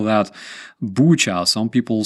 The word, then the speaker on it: Bucha: How the hell do you spell that? Bucha. Some people say Buka.